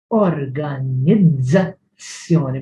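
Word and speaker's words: organizzazzjoni: There is the z and there is the ts. Organizzazioni. Organizzazioni. Don't pronounce it organizzazioni or else organizzazioni. Don't use both, either one for both. One is a z, the other is a ts. Organizzazione.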